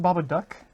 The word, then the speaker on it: Babadook: So is it pronounced Babadook?